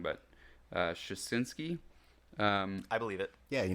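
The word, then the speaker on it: Suschitzky: But obviously, so in episode 5, Peter, I'm going to say this name wrong, but Shasinski.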